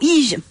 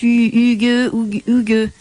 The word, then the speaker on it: hygge: l'ambiance, elle est au Ige. Alors, ça se dit pas comme ça, je crois que ça se prononce Hugue.